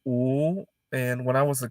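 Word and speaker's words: 五: a wrong number but in chinese five is pronounced ooh and when i was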